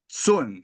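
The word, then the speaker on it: cun: the location is called sunun it's spelled c u n but pronounced kind of sun in Chinese three sun below your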